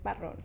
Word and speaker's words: Barron: and my last name is Barron. So All wrong. you gotta Okay. roll the R. So I've never been able to roll anything. So in the way I go like, Barron.